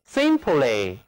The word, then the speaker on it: simply: 的词根 P-L-Y，这里字母 Y 读作短一， Simply，简单的、朴素的、简直。